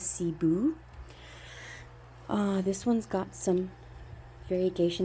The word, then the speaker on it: Cebu: This one is my Cebu Blue pothos, and I named this one Taboo because it rhymes with Cebu.